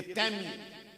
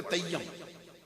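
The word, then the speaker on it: تيم: जो समझते हैं लोग, ये तैमी, ता या मीम। और एक बड़े मैंने खतीब को सुना है जिनकी खताबत के बहुत चर्चे रहे, वो पढ़ते तय्यम, तो ये इसका तलफ़्फ़ुज़ है ना, प्रोनाउंसिएशन इसका ये दुरुस्त नहीं। ये या जो है ना, ये मुशद्दद इस मकाम पे नहीं, 2 या नहीं, ये सुकून है।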